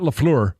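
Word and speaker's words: LaFleur: played hats off to to their coach Matt laflure and I'll say it correctly this time because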